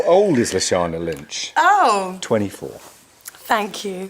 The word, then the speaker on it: Lashana Lynch: How to pronounce Lashana Lynch? Oh. Go on. Lashana. Lashana Lynch.